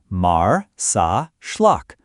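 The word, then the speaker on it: Marsaxlokk: Welcome to Marzacllock, pronounced Mar Sa Schllock, Malta's most Instagrammable village and a living postcard of Mediterranean charm.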